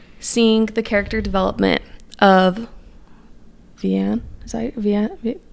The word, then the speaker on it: Vianne: I really loved seeing the character development of Vianne. Is that how you say her name? Vianne? Mm-hmm. Vianne.